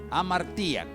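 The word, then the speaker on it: hamartia: Y me encontré con dos palabras, una es amartilla, así como lo escucha, amartía, amartía con acento en la híbera.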